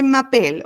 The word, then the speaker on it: m'appelle: Oui, je m'appelle, ¿ok? Sin la appel, la última E no suena.